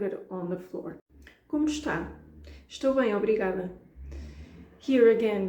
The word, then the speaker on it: está: And in case you didn't notice, in this case I did pronounce the beginning of the verb estar. I said como está because I'm being more formal, so that requires my Portuguese to be a bit better.